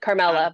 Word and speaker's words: Carmela: And I realize now I did not check to make sure that I am pronouncing your name correctly. You're good, Carmela.